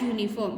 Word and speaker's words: uniform: And wears dash uniform. When you pronounce uniform, it comes like Y sound.